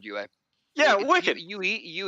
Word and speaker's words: Yue: Yue is actually the proper one.